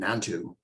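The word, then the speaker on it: Nantou: the story number 138 is a story called nantu and I believe this is the pronunciation or or the spelling is n-a-n-t-o-uh interesting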